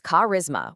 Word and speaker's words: charisma: It's charisma with a hard K sound.